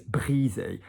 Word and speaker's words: brisé: that means broken, and the pronunciation is brisé. So bris goes up into the nose. Single S in French is a Z if it's in the middle of a word, not if it's at the beginning.